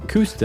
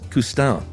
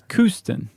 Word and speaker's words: Kooston: I thought it was Coustin. No, that's what you want it to sound like when you're French. No, this is Kooston. Oh, okay. Like Houston? Exactly, but with a C instead of an H.